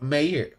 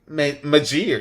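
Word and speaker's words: Meijer: I love Mayor. Majir.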